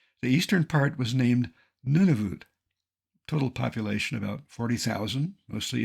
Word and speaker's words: Nunavut: eastern part was named Nunavut total population about 40,000 mostly Inuit nunut is frequently mispronounced none of it with that in mind